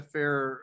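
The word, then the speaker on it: Farrer: did his thesis unfair i asked him how to pronounce it and he said fair so okay good yeah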